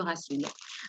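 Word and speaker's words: rhassoul: Alors, qu'est-ce que c'est que le rassoul ou gassoul, comme ça s'écrit avec un G ou avec un R, mais ça se prononce le rassoul.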